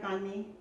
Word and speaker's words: banh mi: Banh mi?